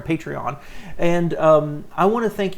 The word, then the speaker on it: Patreon: And also, I did start Patreon this year, or patron, I think is how it's supposed to be pronounced. I do it with 3 syllables, guys, sorry, Patreon.